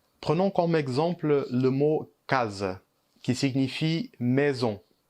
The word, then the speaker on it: casa: Prenons comme exemple le mot case, qui signifie maison. La première syllabe, on prononce K avec un A ouvert, et la deuxième syllabe, Z, on prononce E.